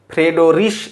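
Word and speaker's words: Friedrich: এখানে কিন্তু 2 রকম দেওয়া আছে, কোথাও ফ্রেডরিশ এরকম লেখা থাকে, কোথাও ফ্রেডরিক এরকম লেখা থাকে। উচ্চারণ সাধারণত দাঁত ভাঙা উচ্চারণ, ফ্রিডরিশ গাউস।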